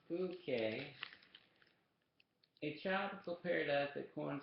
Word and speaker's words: Phuket: She had read a future in the trial pages about the island of Phuket, pronounced Phuket, a tropical paradise that, according to the magazine, offered refuge from prying eyes.